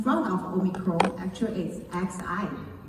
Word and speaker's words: Xi: But I want to ask people, the matter because in front of Omicron actually is XI. In China we call it Xi. The same pronunciation is as Chairman Xi Jinping.